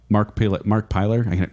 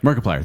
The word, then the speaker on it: Markiplier: number four you get a tie between uh Mark piler Mark play I kind of say his name right Mark plier oh Markiplier Markiplier thank you another game guy player his name